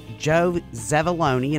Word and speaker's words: Zevuloni: Well, Zevuloni, an unusual name, rhymes with baloney, and we are so happy that you're here.